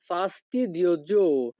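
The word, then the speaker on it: fastidioso: এখানে এস ও এর উচ্চারণ হবে জো। ফাস্টিদিওজো।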